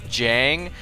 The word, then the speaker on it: Jjang: what his name means it's actually I guess pronounced Jang and it's a a